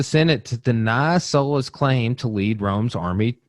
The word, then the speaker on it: Sulla: to be Lucius Cornelius sulla Felix just Sola Sola or sulla Sola is gonna be the pronunciation you hear me say mostly okay so let's